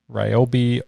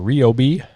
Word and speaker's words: Ryobi: I believe the company pronounces it Ryobi, at least they were pretty adamant about it when I did some videos for them a couple years ago. Personally, I think they should just go with Ryobi because literally everyone pronounces it that way.